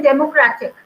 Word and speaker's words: democratic: Then democratic. Same way here we are giving the stress here on the second syllable if we count from the backwards.